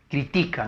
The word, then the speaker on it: critica: Y la otra palabra sería critica, ¿no? Critica, que más bien justo está la sílaba tónica en la ti, es grave.